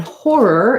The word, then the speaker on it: horror: um or horror films it's actually tough for me to say that and make that final er part clear as well um so just slow down a little bit and try to emphasize that there's two syllables um i think if